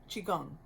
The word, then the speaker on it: Qigong: It's spelled Qi is one word, and the next word is Gong, Gong, and you can pronounce it a couple different ways, but Qigong.